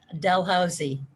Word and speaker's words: Dalhousie: i mean you got your phd from oh dalhousie dalhousie university in canada and there's another faculty